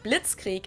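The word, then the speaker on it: Blitzkrieg: actually had been used way before that we pronounce it Blitz Creek in German and it literally translates to lightning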